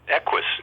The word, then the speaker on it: Equus: In the late 70s, you were in a controversial play called, how do you pronounce it, Equus? Oh, yeah, Equus in New Brunswick.